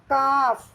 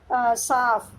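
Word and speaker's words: calf: काफ, we pronounce it काफ, नॉट साफ.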